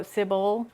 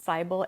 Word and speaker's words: Sybil: So Sybil, I think that's how you pronounce it, Sybil, S-Y-B-I-L, Sybil, or FMC, meets the MMC Rory, the brooding, smudged eyeliner, angry knight.